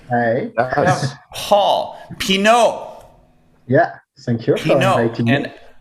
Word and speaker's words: Pinault: Paul Pinault. Yeah. Thank you for Pinault. inviting me. And I'm pronouncing it correctly, right?